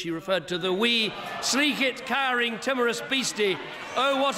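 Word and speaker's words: sleekit: offered to give him elocution lessons on Scots pronunciation here's apparently how it should have sounded we Sleek it kurin timorous beasty oh what a panics in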